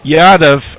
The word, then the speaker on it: Yadav: his thankless task of trying to get our pronunciations right he said I should have known Colin would get it wrong it's yadav and Bharat not your bloody English there you